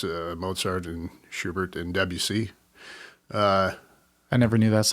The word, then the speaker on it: Debussy: different genres classical it's Mozart and Schubert and Debussy I never knew that's how you pronounce de Busey and then in in rock obviously I mean